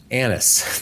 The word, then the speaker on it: Annis: Annis, not the other one.